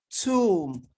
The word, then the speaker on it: tomb: And when you have MB at the end of words, the B is silent.